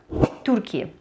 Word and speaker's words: Türkiye: Но так как не у всех есть раскладка немецкого либо же турецкого языка, все-таки Турцию будут называть вот так – Тюркия, что в принципе более схоже по звучанию с турецким произношением слова Турции.